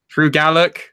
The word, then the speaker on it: Gulak: Drew Gallak.